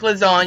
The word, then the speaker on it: lasagna: g's creeps sound like lasagna is because the g in lasagna is silent still it's a stretch